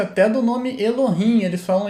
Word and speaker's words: Elohim: Atualmente os judeus estão tendo essa regra de proteção à pronúncia até do nome Elohim. Eles falam Eloquim. Verdade isso, tá? Eles falam Eloquim para não falar Elohim, tá?